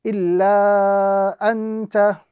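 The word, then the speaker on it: إِلَّا أَنتَ: So we are going to be prolonging or stretching the letter lam to the duration of 2 to 3 seconds.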